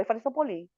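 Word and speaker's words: ευχαριστώ πολύ: Isso, uhum, exatamente como você falou, Efaristopoli. uhum. Nossa, dona, e a pronúncia, tipo, do alemão, assim, gente, eu tô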